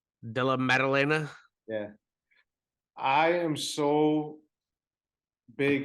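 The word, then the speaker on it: Della Maddalena: with matchup between Kevin Holland and Jack uh Bella Dorena did I say his name right de la medalena yeah I am so big on Kevin Holland uh at 170.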